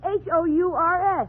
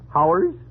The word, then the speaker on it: hours: Now, how do you pronounce Hours? H-O-U-R-S? Oh, Howers? You pronounce it hours.